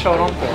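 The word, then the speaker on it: ショーロンポー: Oh yeah, that's shorompo. Shorompo. Shorompo. Shorompo. Yeah, shorompo. In Japanese pronunciation, shorompo.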